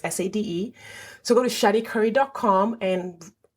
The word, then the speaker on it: Sade: There is no H in Sade. It's just SADE.